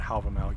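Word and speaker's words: Hávamál: In fact, I have a video where I took a famous stanza of the poem Havamal, modern Icelandic pronunciation, Havamal, yes, jackals, and show you what it would look like in Proto-Norse.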